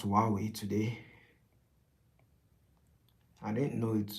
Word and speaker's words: Huawei: Oh, Huawei store. Well, if anything, I learned how to pronounce Huawei today. I didn't know it was um I didn't know the H was silent.